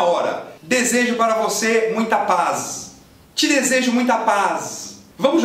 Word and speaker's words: paz: Se você enxergar um Z escrito em posição final, que é o caso de paz, você manda paz. Paz. Paz. e acaba com S.